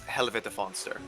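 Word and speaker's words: Helvete Fönster: I will also go on record now for the pronunciation of that dark tome. That's Helvete Fonster.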